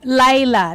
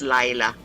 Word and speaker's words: Leila: Layla. Thank you. It's spelled as Leila because it's L E I L A, but it's actually pronounced as Layla. As if it's letter A instead of letter E.